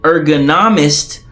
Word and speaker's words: ergonomist: working environment more specifically an ergonomist pronounced like Economist designs or modifies the